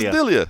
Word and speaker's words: Delija: Yeah, and I don't think I'm saying it right. Ante, Delia. Delia. Ante, Delia. Yeah. So he says Delia.